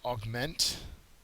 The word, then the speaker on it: augment: Next word is augment. Okay, the second syllable has the accent mark.